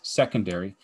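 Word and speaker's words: 2°: you would pronounce that the symbol is two with a degree the pronunciation is secondary and so we could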